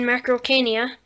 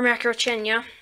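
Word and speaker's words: Macrauchenia: And then this is the new for 2018 Macrocania, or Macrochenia, whichever way you want to pronounce it.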